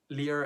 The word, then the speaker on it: Lear: And yes, I say Lear Media, not Liar Media, because I'm sorry, but who the heck wants to be called a liar? Lear, as in the French pronunciation, lire, kind of the same pronunciation there.